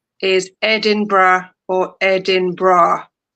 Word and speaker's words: Edinburgh: Edinburgh, the most commonly Edinburgh is the most commonly pronounced as Ed-in-bra or Ed-in-bra. Typically with three syllables. Right? is this so difficult? I I have problems Incorrect pronunciation Incorrect pronunciation Edinburg, Edinboro, or Edinboro.